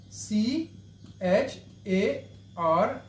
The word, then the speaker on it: char: second data type the second data type is c h a r a c t e r how to work